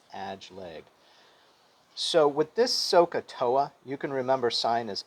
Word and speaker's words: SOHCAHTOA: device for the three trig functions it's called so ka toa and it's pronounced sohcahtoa everybody repeat after me sokatoa socatoa and this